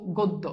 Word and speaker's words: গদ্য: সাথে একটা স্বরে আছে এরপর যদি জ ফালা আছে না আছে তাইলে এই জফালাটা এই স্বরে ও টা কি হবে ওকার হবে তাইলে এই যে গদ্য বানালে গ এর সাথে ওকার হবে এবার বুঝছো কেন ওকার বসে তাহলে দেখো গোদ এরপর দেখো গোদ এরপর কি দকার দ গদ্য শেষ এবার তোমরা আমাকে